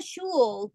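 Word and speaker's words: sgoil: Bimi a shul, Gu How do Tennessee. you say that? Shul. Yeah, sort of like shul. Yeah. Shul pronunciation would be shul.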